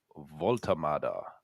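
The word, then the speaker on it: Woltemade: He couldn't play this weekend, but this week we have signed Nick Voltamada, as I'm told it's pronounced.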